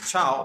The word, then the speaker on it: ciao: So ciao, the pronunciation of this word is ciao, means goodbye or bye-bye.